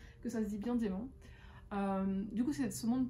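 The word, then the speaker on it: dæmon: Donc c'est ce qu'ils appellent eux un démon, ça s'écrit D-A avec le E, enfin avec le A dans le E, mais ça se dit démon.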